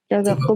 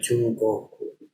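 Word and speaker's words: 中国: Chogoku bahasa Cina. Bahasa Cina ya. Cina. Itu bacanya Chugoku.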